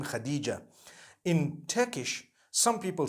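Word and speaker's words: Hatice: it you know I came across the name Khadijah in Turkish some people spell it h a t i c e I would say hatis for that no it's actually Khadijah in Turkish that's the way they write it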